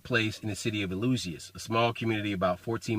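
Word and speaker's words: Eleusinian: greeks had the illusion this was a hard one to pronounce but it's illusion as in the elysium fields or elysium like the movie elysian fields and so the illusion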